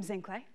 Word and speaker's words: Zinhle: a little bit more about me hi I'm zinc lay you why don't we try saying my name cuz I know it's tricky zing clay cool you can ask me again I know